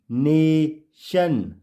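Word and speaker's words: nation: तो यहां आपने देखा जैसा कि रोल में बताया था कि जब भी वर्ड के लास्ट में क्या दिखे टी आई ओ एन तो वह क्या पढ़ा जाएगा शन के रूप में पढ़ा जाएगा जब भी टी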